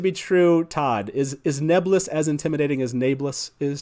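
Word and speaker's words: Nae'blis: jordan pronounced this word that's correct folks not nablus it's nebulous and for some reason at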